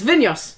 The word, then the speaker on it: Vinhos: It's Vinhos. Because Vinhos. it's Portuguese instead of whatever we thought it was.